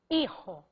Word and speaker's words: hijo: Então eu quero falar padre e hijo. O fonema de Y é I. O fonema de HI é I, porque o H é mudo foneticamente em espanhol.